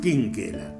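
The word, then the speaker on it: Chinchella: Y después fue adoptado por una familia italiana, Quinquela, con CH, pero se pronunciaba Quinquela.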